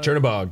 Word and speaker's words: Chernobog: Chernobog. Is that what he said? Chernobog? Yep, Chernobog. Chernobog. I got it right.